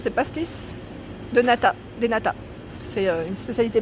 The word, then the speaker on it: pastéis de nata: Les pastéis, comment ça se prononce? C'est pastéis de nata, des nata.